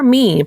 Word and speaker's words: MIIEN: We are MIIEN, pronounced MIIEN, like MEAN.